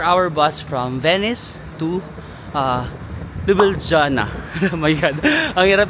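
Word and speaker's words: Ljubljana: hour bus 4 hour bus from Venice to lubana my god ang hirap i-pronounce ng kanilang City lubana and then um sasakit tayo via flix bus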